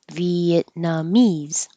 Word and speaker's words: Vietnamese: rhetorical question and Vietnamese Vietnamese you you won't hear the T Viet nah so the